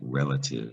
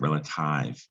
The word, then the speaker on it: relative: So English added an E to that Latin root to get relative. And you don't pronounce it relative. It's still pronounced relative, right?